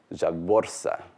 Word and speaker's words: zhavvorsa: The proper pronunciation of Dothraki is Dothraki, stressed on the first syllable, but the word for dragon, Javorsa, because there's that heavy internal syllable, so it gets penultimate stress.